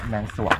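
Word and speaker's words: แมนสรวง: แ มี ท่าน ขุน แมน ซวง แมน ซวง ไม่ ใช่ ซีรี่ ไ เ อ่าน ว่า แมง แมน สวง ด้วย เอา ล่ะ ครับ พี่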